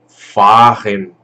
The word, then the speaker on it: fahren: Então aqui no caso ficaria fahren. Esse A ele fica um pouco mais longo.